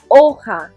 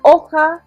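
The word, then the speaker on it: hoja: there d we've got oha remember that h is silent so repeat so looking at our images we've already chosen three so our last option is oka which is a leaf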